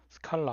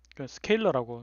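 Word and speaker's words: scalar: 값, 크기 값이라고 해서 스칼라, 한국말로 스칼라라고 합니다. 그, 스케일러라고 이제 발음을 하십시오. 훨씬 더 스칼라, 뭐 이해하기 힘들잖아요. 뭐 철학자, 스칼라 철학자도 아니고, 그래서 스케일을 준다라는 의미에서 스케일러라고 하고요.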